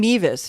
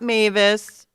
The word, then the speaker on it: Mevis: And Mevis. His name is Mevis, not Mavis, not Melvis.